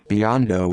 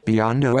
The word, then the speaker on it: Biondo: 1966 new york city pronounced b-o-n-d-o-h also known as jb joe bandy